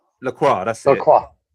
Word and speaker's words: Lacroix: You said you knew somebody called Lacroix, or how do you pronounce that boy? He got sent off. What's his Lacroix, name? Lacroix.